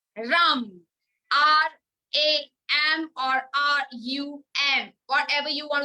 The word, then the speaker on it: Ram: R-A-M or R-U-M. Whatever you want to chant, but the chant, the pronunciation is Ram.